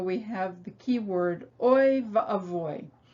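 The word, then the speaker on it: אבוי: have the key word avoid in yiddish it's shortened to oy vey but in hebrew it's avoi which is a great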